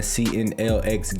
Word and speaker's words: CNLX: CNLX Gaming, where the X is silent.